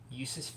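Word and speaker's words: Jusuf: o e p but you pronounce his J in his name with as a y because he's a Russian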